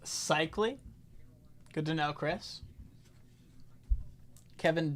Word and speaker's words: Sikma: It's pronounced Sikma.